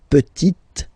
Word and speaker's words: petite: the feminine form, la petite. So I insist because here it's t, okay? So really you need to make the difference between the masculine form petit and then the feminine form petite, okay?